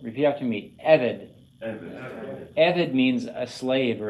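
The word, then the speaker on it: עבד: It acts on the first syllable. Repeat after me, Evid.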